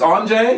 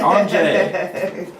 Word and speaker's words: Onjay: It's Onjay? Yes. Okay, so you were saying it right. Onjay.